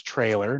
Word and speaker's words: Traylor: So on an introductory note, it's Traylor, not like the singer, Taylor, so no music jokes.